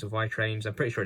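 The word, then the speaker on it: vi-Trains: pronounce it differently um i'm pretty sure it's very trained it's how you pronounce pronounce the name of the company anyway and yes it's a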